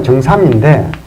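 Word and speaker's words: 증삼: 그리고 이 정자가 정삼인데, 원래는 뭐 참이라고 읽어야 되는데요.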